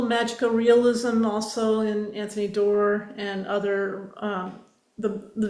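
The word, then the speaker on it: Doerr: For example Anthony door that's how you say his name.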